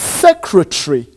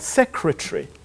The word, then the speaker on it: secretary: secretary is often mispronounced secretary what a correct pronunciation is secretary so yes kill No ah I see sorry professor that's not correct seems a lot secretary and II I mean II see I want